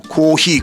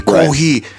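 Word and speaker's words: コーヒー: But then Japanese pronunciation is super weird. So kohhi kohhi.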